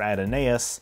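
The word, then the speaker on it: Adonais: the Greek god Apollo and whom mourns for Adinese, and yes, that's how it's pronounced, and a giant space amoeba in the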